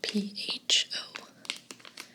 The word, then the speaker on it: pho: It's spelled P-H-O and pronounced pho.